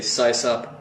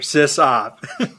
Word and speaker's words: sysop: just this off well by the way I say size up not sis up so yeah system operator sis op if anybody's linguist out